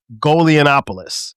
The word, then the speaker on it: Golianopoulos: My man Golianopoulos. Did I pronounce that right?